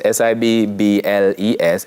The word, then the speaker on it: Sibbles: So Sibbles, SIBBLES, SIBBLIES, and SIBBLIS. Sibbles. Yes. Wherever it comes from, in terms of the spelling of the last name. It's pronounced almost the same.